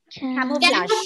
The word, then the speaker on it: camouflage: Camouflage. Though the ending letter is G-E, it is G-E. The pronunciation is Zh.